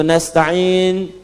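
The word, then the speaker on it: نستعين: Yang kedua itu nastain dibacanya menggunakan fathah ujungnya sukun. Jika ada yang baca menggunakan kasrah itu dari bani Tamim, bani Asad di antaranya.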